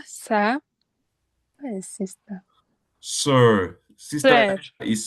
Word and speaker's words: sœur: Sister Sœur. is spelled sir.